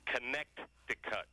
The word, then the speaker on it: Connecticut: the state's name well that second C fools everybody but how do you pronounce it with the second C connect the cut very good Bob do